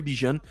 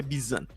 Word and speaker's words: Bijan: é o nome dele escreve bichano mas a pronúncia bisana é quem sou eu